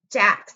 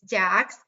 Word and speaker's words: Dax: And by the way, his name is Dax. That means that's spelled D as in dog, A-X, not Max, not anything else. It's Dax.